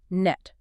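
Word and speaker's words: NTREIS: R E I S, is pronounced NETS.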